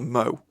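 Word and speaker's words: mawl: base of the Sager so they called it a mo even though it's spelled m a w or L M A WL I'm pretty sure that's because of the Stoke accent so for example we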